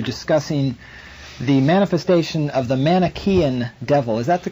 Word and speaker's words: Manichaean: You're discussing the manifestation of the Manichaean devil. Is that the correct way to pronounce that? I believe it Manichaean is, yes.